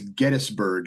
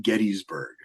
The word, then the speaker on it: Gettysburg: I've also learned it's Gettysburg, not Gettysburg.